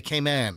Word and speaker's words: Cayman: No, all of the Caymanians say Cayman. But all tourists say Cayman. That's the way the locals say it. It's Cayman, Grand Cayman.